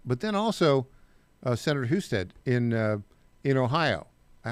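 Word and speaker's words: Husted: But then also, uh, Senator Huststead in uh, in Ohio. I always do I pronounce it. What's the connect? correct pronunciation. Yeah, you're right. Houston.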